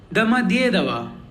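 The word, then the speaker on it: Домодедово: In this, as you can see, we have 4 O's and 1 Ye. Ye is the stressed one. So all the O's are pronounced like A, and the entire word is pronounced like Damadyedava. Damadyedava. See how I am stressing more on Dye.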